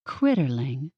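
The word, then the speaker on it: Critterling: said it right right think of it as two words Critter for animal and Ling which isn't really much of a word but more of an add-on he smiled simply put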